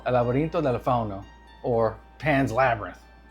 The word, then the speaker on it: El Laberinto del Fauno: How's the proper pronunciation? The El- Spanish version? El Laberinto del Fauno.